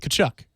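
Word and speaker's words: Tkachuk: You don't pronounce the T, do you? No. It's like Keith Kachuk in hockey.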